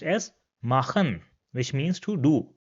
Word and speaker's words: machen: Now if this comes after the characters A, O, U, or A, U, then it will be pronounced as H in English.